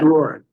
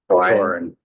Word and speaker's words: Dauren: Is it Doran? It's spelled, how's it spelled? D-O? Dauren. D-A-U-R-E-N. Doran. Doran.